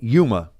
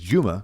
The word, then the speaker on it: Yuma: How you spell it? Yuma. Yuma. Bro. Yeah. For my Puerto Rican friends, it's Juma. Juma. Okay. Yeah. So, but Yuma. So Yuma, Arizona.